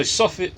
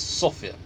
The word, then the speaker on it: Sofia: capital city of Sofia some people say soffit Sofia it's Sofia that's how they pronounce it in Bulgaria if I'm wrong then